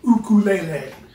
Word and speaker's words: ukulele: Very briefly, I would like to talk about the ukulele, or as it would be more properly pronounced, ukulele.